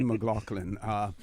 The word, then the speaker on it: McLaughlin: the Honorable Alden McLaughlin and that's the British pronunciation pronunciation all the McLaughlin premiere of the Cayman